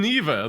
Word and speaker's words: Neeva: sad for me neither is that how you pronounce it yes and neither there would be Google competitor is shutting down